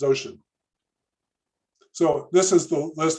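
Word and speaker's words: Wouxun: Here's the whole panoply of, well, so how do you pronounce this word? W-O-U-X-O-N? It's ocean. It's ocean.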